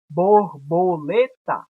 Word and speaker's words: borboleta: Exemplo, borboleta. Borbolê, que é a sílaba mais forte, que é a sílaba tônica, tá. Então, a gente percebe que a sílaba tônica está na penúltima, que é lê.